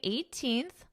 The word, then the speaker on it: 18th: According to World Population Review, as of January 18th, so even though in the spelling it is not there, I'm going to pronounce that TH. As of January 18th, India's population reached 1.423 billion.